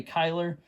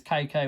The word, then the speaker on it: Kyler: And that is Kai Kai Kyler. Um, that's the way they pronounced his name is Kai was a a uh shortened version from Kyler.